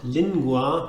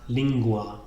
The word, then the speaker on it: lingua: So, for example, language is not lingua, but lingua.